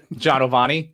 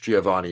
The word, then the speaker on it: Giovanni: what your name is john ovani that is a common pronunciation of the name in the commoner's english giovanni is my true name sorry sorry i